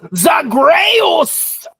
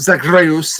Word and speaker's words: Zagreus: Uh, the correct pronunciation is Zagos.